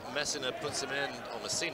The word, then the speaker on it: Messina: I have this feeling that Messina, is the correct pronunciation.